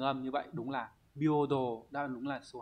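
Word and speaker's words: 平等: Nhưng mà riêng trong từ này nó không đọc là he mà đọc là bio nhá. Chữ đẳng nghĩa là đồ, có trường âm như vậy, đúng là bio đồ, đáp án đúng là số 2.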